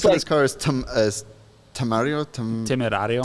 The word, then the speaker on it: Temerario: So the name It's for like- this car is Temerario. Temerario.